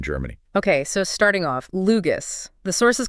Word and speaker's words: LUGAS: That's L U G and it's pronounced Lugus. Exactly. And our plan today is to really get under the hood of this Lugus system.